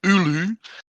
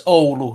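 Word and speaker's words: Oulu: my heat map in ULU um SJ and Rhys hi hello resident Finn you want to you want to correct that pronunciation there oh yeah it's all not ulu thank you all right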